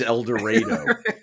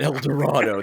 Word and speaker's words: El Dorado: It is El Dorado. It's not El Dorado. They changed it.